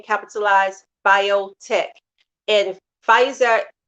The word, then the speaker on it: Pfizer: Like this new vaccination, I think it's called Pfizer, and BioNTech. That's it. Pfizer, N, like the letter N, capitalized, BioNTech. And Pfizer, the P is silent, P for Paul, F